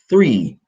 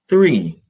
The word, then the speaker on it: three: three bananas always remember when you're pronouncing three the H is your tongue should be between your teeth three three so there are three